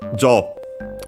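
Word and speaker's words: 所: Because, look at that, it's well, technically the pronunciation would be sho, then it becomes jo because it's the last part of, it's a suffix. And so the last part of a compound.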